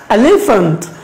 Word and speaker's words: elephant: Say with me, elephant, elephant, elephant.